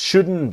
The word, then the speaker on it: shouldn't: And things just shouldn't be. So the T in just is silent and the T in shouldn't is silent.